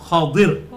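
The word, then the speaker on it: خضر: ये अरबी में इसकी प्रोनाउंसिएशन है खा के ऊपर जबर, द्वाद के नीचे जेर और रा के साथ हम उसे पुर कर देंगे, खदिर। हम उर्दू में इसे खिज्र कहते हैं।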